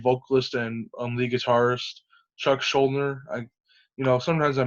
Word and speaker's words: Schuldiner: Oh, and I should say this: unfortunately, their lead vocalist and lead guitarist Chuck Schuldiner. Sometimes I mispronounce his last name, but I hope I'm saying that right.